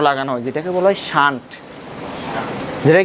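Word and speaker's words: shunt: গ্যালভানোমিটারের সাথে ছোট্ট একটা যন্ত্র লাগানো হয় যেটাকে বলা হয় শান্ট। যেটাকে কি বলা হয়? শান্ট। প্রশ্ন হচ্ছে শান্ট কিয়া, শান্টের বাড়ি কই, শ্বশুর বাড়ি কই, এটা আমরা জানতে হবে। শান্ত না, শান্ট।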